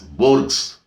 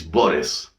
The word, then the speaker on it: Borges: So here G is silent. You should not pronounce it as Borges. It is Borges, right?